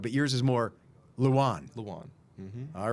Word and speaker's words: Lewan: But yours isn't Luwan. But pronounced the same way. Luwan. So, yeah, but see I'm saying Luwan cuz I'm used to using the wood, but yours is more Luwan. Luwan.